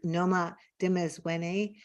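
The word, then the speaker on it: Noma Dimezweni: I just want to say that I pronounced Noma's name wrong. It's Noma Dimezwene, and I think I'm saying it right now.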